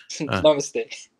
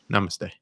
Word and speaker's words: namaste: They know how to pronounce namaste. Yeah, I fucked it up. Namaste. Namaste.